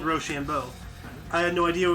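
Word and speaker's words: Rochambeau: that hey i'm just impressed how you uh pronounced roshambol roshambo very good you nailed it yeah well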